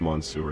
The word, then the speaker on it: Mansour: It's actually pronounced Mansour, not Mon.